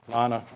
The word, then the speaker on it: Leona: Lana.